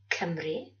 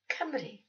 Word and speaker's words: Cymru: Four you recognised are pronounced A, E, I, O, but U is always pronounced E, never U, as in the word Cymru.